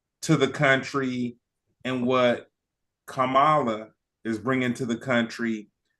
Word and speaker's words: Kamala: happened because you know people were saying CA and it was like no it's Kamala come and then next you